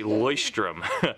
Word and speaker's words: Leuchtturm: video on how to say this it's a boy Sturm and it is similar like it looks fairly